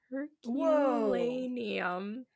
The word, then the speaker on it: Herculaneum: Herculaneum. Yeah. It's like it's a town. Okay. Like Hercules, but then it says Lanium.